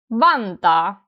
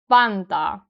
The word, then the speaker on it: Vantaa: Notice that the first syllable is stronger, van, and then after that, taa. Vantaa. And another really important thing about the Finnish pronunciation is that when we have double vowels like aa here, it's a long sound, long vowel sound a.